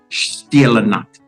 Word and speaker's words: Stille Nacht: Silent Night is pronounced Stille Nacht. The S sound in German is pronounced more with a sh sound, and not a s as we use in English.